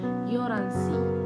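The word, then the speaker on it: 열한시: Tadi karena dia ada huruf real sama huruf hyet ya, real sama hyet, maka realnya itu dibaca menjadi huruf R gitu ya, Yoransi, Yoransi. Jadi hanya itu tidak diucapkan.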